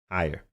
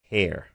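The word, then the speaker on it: Haier: Back to school was huge for us, but it's spelled this way, right? Higher.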